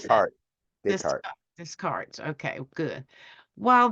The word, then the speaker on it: Descartes: He had just been exposed to the 2D and 3D coordinate systems of Rene Des- how you pronounce that? Descartes.